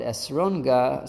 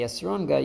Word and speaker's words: esrog: And that's why Rebbe Nachman said, "Don't call it esrogah." Sorry, Rebbe Yehudah said, "Don't say esrogah, you should say esrog, just the regular way of pronunciating of saying it."